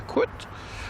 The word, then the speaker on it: Kurt: For anyone who actually is German and understands the correct pronunciation of Kurt, is actually a Kurt.